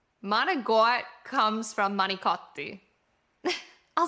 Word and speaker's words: manicotti: And this is another one where if you say it like manigot in Italy, it's not the Italian word. They just won't understand you.